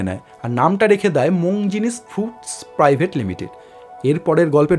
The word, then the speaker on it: Monginis: নামটা রাখলেন সেই পুরনো ইতালীয় পদবীটাই মোং জিনিস। তবে উচ্চারণে সেটা বাংলা কালচারে মিশে হয়ে গেল মন জিনিস।